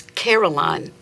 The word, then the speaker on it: carillon: The fanciest word I knew as a child was carillon, 3 syllables of embodied melody, and my mother would say it as if she'd known it her whole life.